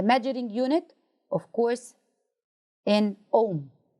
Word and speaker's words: ohm: unit of course in ohm the H is silent types of electric resistance